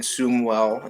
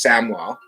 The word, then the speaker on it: Samwell: At first, we called the human Sumwell until he corrected us. It's Samwell.